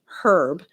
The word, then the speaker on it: herb: He said, well, he said, I heard that word pronounced that way, meaning herb, from a chef.